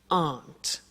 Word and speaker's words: aren't: they aren't cheap so the difficult here is the pronunciation of are not which is Aunt okay art good so